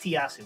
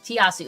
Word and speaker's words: tiasu: is Thorn by tayas I believe it's pronounced tiasu tiasu it's t-i-a-s-u all lowercase